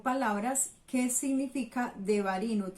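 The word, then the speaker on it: דברים: Bamidbar se pronunciaría en hebreo. Y el último libro, Deuteronomio, las palabras o palabras que significa Devarim, o se nombra en hebreo Devarim.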